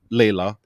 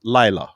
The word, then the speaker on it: Lila: so hard yeah because when you read her name and you see her name you want to say layla but then it's pronounced lyla yeah yeah yeah it